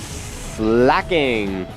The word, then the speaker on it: Slaking: want to pronounce it I think it was intended to be slaking because slacking just sounds stupid and it would be slacking I mean if it had a C that would make more grammatical sense I